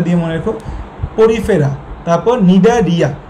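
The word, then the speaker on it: Cnidaria: Porifera, তারপর নিডা রিয়া। এখন বলতে পারো ভাই এখানে তো আগে সি আছে, সি এর উচ্চারণ হয় না এই জায়গায়।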